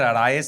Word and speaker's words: Al-Rayess: right? Is that how you say it? Yes, يعني Al-Rayess.